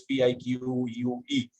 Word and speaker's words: pique: If that's the right pronunciation, Professor Lopez, P-I-Q-U-E, pique, right?